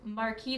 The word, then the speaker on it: marquise: So this marquee design ring is number 5. Marquise is my new vocabulary word today. Thank you, everybody. I don't think you pronounce the S because it's French.